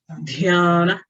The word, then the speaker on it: dhyana: In Sanskrit, wherever you see an H, that means it accompanies the consonant and it's an aspirate. Aspirate means the sound of the breath. Ha. Dharana. Dhyana.